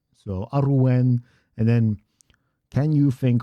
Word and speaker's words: Arwen: Um Arwen, by the way, is Aruwen, Aruwen. Just saying. So, Aruwen, and then can you think what form it would be of tatman that we need?